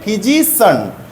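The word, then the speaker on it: physician: হবে সান ওকে আর এইটার উচ্চারণ হবে সান তাহলে এটা হবে সিচুয়েশন আর এটা হবে ফিজিশিয়ান ফিজিশিয়ান ওকে ফিজিশিয়ান উচ্চারণা করবে না কি করবে ফিজিশন যেমন রাজনীতিবিদ পলিটিন এটা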